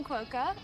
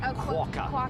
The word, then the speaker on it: quokka: I have never seen a quokka. We've got to get the pronunciation right. Quokka. Quokka.